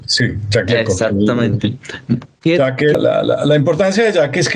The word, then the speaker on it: Jacques Lecoq: Al lado del famoso actor francés, que me perdonarás mi mala pronunciación, pero Jacques, algo así. Jacques Lecoq, sí, Jacques Lecoq.